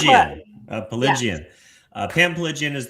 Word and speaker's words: Piligian: guest for you guys today, Pam Piligian. Am I pronouncing that right? Piligian. But you're close. Piligian.